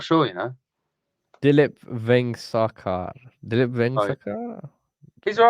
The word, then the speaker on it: Dilip: His first name rhymes with tulip. I'm not sure, Dilip Vengsarkar.